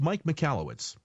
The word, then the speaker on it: Michalowicz: click it and see what you think it's pronounced Mike mallwitz well usually click again for some let's say